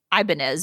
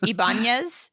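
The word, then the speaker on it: Ibañez: Ibanez. Ibanez. Yeah, but in the movie they say Ibanez, most of them. Yeah. And it's Ibanez. I mean, it's even got a tilde over the N in the book and everything.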